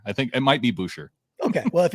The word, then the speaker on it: Boucher: is it is it boucher boucher how does he say his name bobby boucher bobby boucher chris boucher he goes he goes to bouche okay so chris boucher